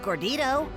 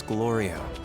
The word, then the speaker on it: Glorio: it, I don't remember hearing a peep out of Gordito. That's because I'm used to it. And the name's Glorio. Are you saying it wrong on purpose?